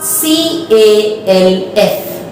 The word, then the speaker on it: calf: C-A-L-F. C-A-L-F, but L is silent. So we pronounce it calf.